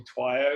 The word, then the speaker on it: Twiyo: It's like meant to be Twyo.